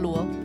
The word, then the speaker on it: Lu: say your last name luu O how do you is it just Lu Lu yes Lu okay so I've always said that the right way then correct okay well